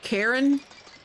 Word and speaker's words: Charon: And that's when I ended up with, I say it Charon, or Charon. Apparently some people pronounce it Karen.